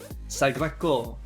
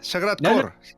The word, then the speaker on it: Sagrat Cor: might call it, Emma, Sagrado. No, that's almost French. Being Spanish Rob. Yeah, how might you pronounce it? Well, you've said it in Catalan, so should we Yes. leave it there? Sagrat Cor. Yes.